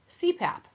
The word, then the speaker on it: CPAP: lot of acronyms so an acronym is an abbreviation made up of initials that can be pronounced as a word like CPAP okay CPAP is continuous